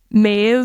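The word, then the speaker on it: Maebh: how they sound so M MH like the name Ma for example ma BH is a v sound BH is a v sound it's spelled m a e BH and sioban s i o b h a n so yeah right right BH and M M are are vs um and uh E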